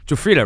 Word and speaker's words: Giuffrida: Matthew jfa jfa right that's how you pronounce it you nailed it Matthew Jaa yeah thank you very much for coming on